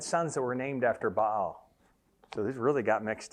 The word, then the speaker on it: Baal: he uses and most of the pictures of Baal ba'al is what he's called if we would pronounce it correctly have horns on on it